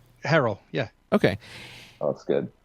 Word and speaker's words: Herrell: Herrell.